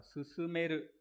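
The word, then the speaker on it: 勧める: Trong khuyến khích, cái chữ này phải đọc là susumeru.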